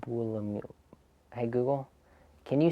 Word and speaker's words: Buolamwini: Sure, you pronounce Dr. Joy Buolamwini as Buolamwini. Buolamwini.